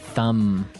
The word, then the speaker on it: thumb: So, the pronunciation here, do you say the B at the end of this word? No, I actually only pronounce the M.